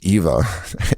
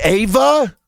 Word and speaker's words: Eva: I thought it was Eva. Ava, how do you Okay, one second. Here we go. We're going crazy. How do you pronounce Eva Mendes? Maybe it's Ava. Maybe I'm wrong. It's Ava.